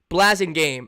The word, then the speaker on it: Blasingame: Blasingame is how it's pronounced.